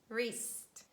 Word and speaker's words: wrist: And when we have consonant digraph WR, which stands at the beginning of words, we pronounce only R sound and we say right, wrong, wrinkles, wrist, wrap.